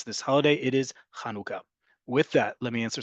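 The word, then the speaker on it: חנוכה: from Hebrew to English there's only one way to pronounce it in um Hebrew you're going to hear my annual rant that this holiday is not about um breastfeeding or nursing that verb in Hebrew is leik or the act of doing it is hanaka in modern Hebrew instead this holiday is kanuka kanuka we're going to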